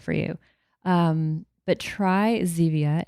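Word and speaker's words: Zevia: Um, but try Zia. It's spelled ze via a.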